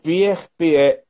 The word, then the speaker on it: Peer: Pierre, porque ele é norueguês, né? Então, P-E-R, Gynt, tem essa pronúncia do A, mas é G-Y-N-T.